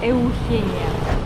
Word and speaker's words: Eugenia: мы остановились отель называется эухения Обратите внимание на его написание ощущение как будто бы отель называется Евгения но на испанском читается как эухения Давайте пройдём внутрь отеля